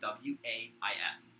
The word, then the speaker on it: waif: just missed yeah the chosen wife and wife is spelled w-a-i-f if i mispronouncing that chat don't kill me